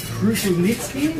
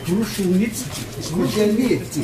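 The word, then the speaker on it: Kruszelnicki: Karl, who's Kru-shell-nit-ski. Although the proper Australian pronunciation is wheelbarrow. Kru-shell-nit-ski.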